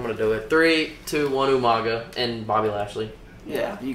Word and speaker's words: Umaga: You said Omega. You didn't say it right. Omega. What's his name? Umaga.